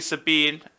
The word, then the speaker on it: Sabin: seven force rules right we're pronouncing it wrong it's supposed to be sabine anyway yeah sits on